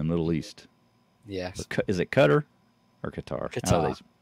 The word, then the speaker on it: Qatar: Qatar in the Middle East yes is it cutter or qarar how do they pronounce it qarqar okay I always thought it